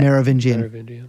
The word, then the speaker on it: Merovingian: Merovingian.